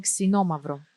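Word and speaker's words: Xinomavro: Xenomavro. Sinomavro.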